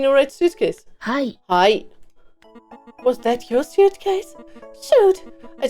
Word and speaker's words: は: Ha is pronounced as wa.